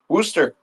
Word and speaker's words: Worcester: Worcester. Worcester. In Worcester, it's spelled like W.